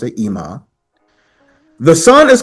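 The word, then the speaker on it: אמא: Instead of mother, we say imma, pronounce, and I'll show you how to pronounce it. Ima.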